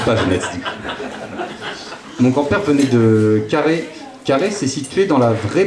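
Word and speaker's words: Carhaix: il venait de Carlin surtout faut prononcer carré faut qu'on sente le granite du coup si tu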